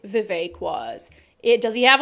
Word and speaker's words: Vivek: crispy uh Vivek says it's pronounced like cake Vivek okay now I know